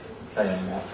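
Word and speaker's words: ka-Map: K-A-M-A-P. It's pronounced Kamap.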